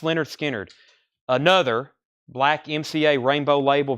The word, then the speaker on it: Lynyrd Skynyrd: 35 dollars and so I can put up pronounced Leonard Skynyrd another black MCA rainbow label very nice has